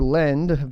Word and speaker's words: Ledn: So Ledn, or Lend, basically spelled like hodl, offers credits in US dollars and USD coin, stablecoin, with an annual interest rate of 7.9%.